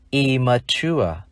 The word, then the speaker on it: immature: Lưu ý khi phát âm immature, hai chữ M đứng liền nhau, chúng ta chỉ phát âm một.